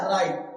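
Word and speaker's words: write: राइट। देखो इसे bright नहीं पढ़ेंगे। ब्राइट नहीं पढ़ेंगे। क्या पढ़ेंगे? राइट पढ़ेंगे। क्या? राइट। तो यहां जो डब्लू है वो क्या है? यहां पर डब्लू साइलेंट है।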